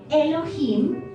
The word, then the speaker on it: Elohim: login pero se pronuncia elohim la h tiene sonido y significa poderoso supremo